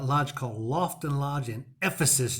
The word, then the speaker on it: Ephesus: loft and lodge in Ephesus Georgia yeah I said it right almost sounds like a sneeze versus if this is